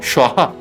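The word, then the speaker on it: স্বাহা: ম গ্রম সোহা সোহা উচ্চারণটা হবে সোহা আমরা যখন সেই যজ্ঞে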